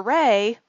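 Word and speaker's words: Wray: And so Jennifer's middle name is Ray, and it's spelled W-R-A-Y.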